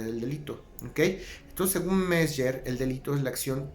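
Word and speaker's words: Mezger: a un autor que se le conoce como Mesger. Se escribe M-E-Z, G de gato, E de elefante, R de ratón. Mesger.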